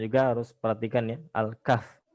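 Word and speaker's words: الكهف: Nah kalau di surat al-kahf ini cara bacanya juga harus perhatikan ya Alkaff bukan al-kahfi karena huruf terakhir tidak dibaca seperti misalkan al-fatihah bukan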